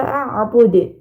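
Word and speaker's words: أَعْبُدُ: Kemudian terakhir pada kata a'bud. A'bud. Nah, huruf dalnya dipantulkan. Ini termasuk huruf qalqalah.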